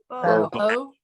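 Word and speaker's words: בוא: Bo. Bo. Exactly. Like, Bo Jackson, Bo knows.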